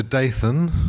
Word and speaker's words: Daythan: the other day so daythan is Ray's father and miria is Ray's mother got it so daythan like Nathan like fanther like banther